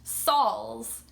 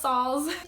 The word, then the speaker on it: Sauls: Just like, my last name is pronounced Sauls. To me, that's very normal, seeing it and just saying, oh, Sauls. However, a lot of people can't figure it out because I guess it looks like it would be pronounced in an odd way. They say like Sauls or Sauls. It's pronounced Sauls.